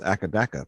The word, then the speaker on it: AC/DC: I'm always surprised uh in Australia you usually pronounce AC DC as academ but you don't why